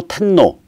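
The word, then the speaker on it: 天皇: 왕이라고 절대 안 불러 한자 로 천왕 일본 발음으로 타노 왜 그렇게 부른 야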